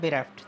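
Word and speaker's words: bereft: पहले तो इसका प्रोनाउंसिएशन बेरेफ्ट है ना, जो सही प्रोनाउंसिएशन है वो क्या है? बेरेफ्ट।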